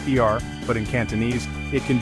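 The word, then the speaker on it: 二: For example, the number two in Mandarin is pronounced eer, but in Cantonese it can be y or leong.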